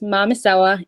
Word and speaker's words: Mamisewa: If you say it with an English accent, it's Sewa. But my name is Mamisewa.